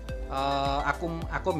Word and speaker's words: Acome: Ya kan, kali ini saya kedatangan produk dari tulisannya Acome, bacanya Akom ya kan.